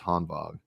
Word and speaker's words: Hanwag: But the Hanwag Makras, and it's spelled Hanwag, but it's Hanwag.